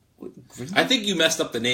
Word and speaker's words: Grindr: Wait a minute, we talked about getting on Twitter, like Twitter, Twinder. But I think you're pronouncing it wrong. It's called Grindr.